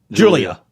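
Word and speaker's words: Giulia: I always say her name wrong. Uh G I U L I A Julia. Yeah, Julia.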